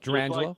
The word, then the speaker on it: Gerangelo: Gerangelo? Just the way it looks.